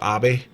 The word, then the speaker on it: Abe: I believe it's pronounced Abe, and he was actually pretty pro-American.